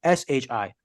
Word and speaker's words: Shi: Ohio State rolls into shy Stadium Shi Stadium by the way not shy s-h-i my apologies it's pronounced Shi I've been saying it wrong this whole time anyway Rutgers could be